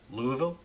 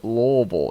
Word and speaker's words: Louisville: one more time Louisville it's not how you say it you know you know how you pronounce it it's a really weird word to pronounce Louisville no you ready I got to gear up for this Bob all right take your time go through your preparation Lille lville no it's Lal you have to say